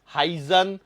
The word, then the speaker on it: Huygens: है अब इस थरी को देने वाले थे हाइजन कौन नाम है उनका हाइजन स्पेलिंग एच य वाईजी एन हाइजन ठीक है अब इन्होंने क्या बोला कि भैया